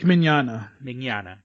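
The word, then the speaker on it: Mignogna: yeah vic you cannot pronounce it m-i-g-n-o-g-n-a i think i have that i have that here in my notes i could it's uh vic magnana yeah yeah a very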